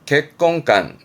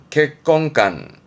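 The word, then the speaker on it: 結婚観: 객건간, 객건간. 이거는요. 가치관이 되겠습니다. 가치관, 가치관. 뭘까요? 선, 입, 관이네요.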